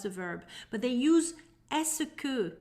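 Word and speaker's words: est-ce que: do you plus the verb but they use esoku pronounced as escu it translates as is it that so we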